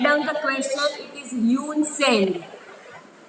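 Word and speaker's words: Hiuen Tsang: It is Yoon Seng. Spelling खास देखना. H capital, T capital. T is silent, but we write it like this: H-I-U-E-N, Yoon, T-S-A-N-G, Yoon Seng.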